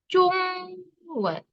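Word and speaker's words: 中文: Jungwen. Oke, ini agak susah Laoshi tulis, jadi kalau agak jelek maaf ya. Ini ya, Jungwen ke. Bacanya ZHONG WEN ke.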